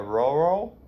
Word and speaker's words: rural: are the epitome of a rural. Rural. Remember how it sounds like O?